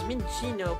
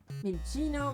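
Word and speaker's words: Minccino: So, I've always pronounced Vincino as Mchino, but I as I think the double C is supposed to pronounce the same way you say cappuccino. Menchino. Mincino.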